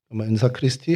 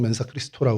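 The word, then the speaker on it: mensa Christi: 기 멘사크리스티 돼 있습니다 라틴어로 멘사크리스티 혹은 맨사 리스토라 발음을 하는데 바위 어리죠 그리스도의 식탁이라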